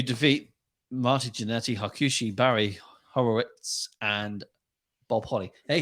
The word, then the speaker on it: Horowitz: Hey, did you hear how I said it? Horowitz. That's how you say it. It took us fucking like a year to figure out how to say it. Horlicks. Oh yeah, I remember your problems with it. Yeah, he was saying Hollowitz. Horowitz. Or Horowitz. Horowitz. It's Horowitz. Horowitz.